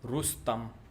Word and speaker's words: Rustam: I know it's kind of difficult to pronounce names, but Rustam, that's how it's pronounced.